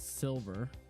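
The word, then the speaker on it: Cylver: Her name is Silver. Let me take away the, whoops. This is Silver. This is my friend's character. And it's Silver spelled with a C. C-Y-L-V-E-R.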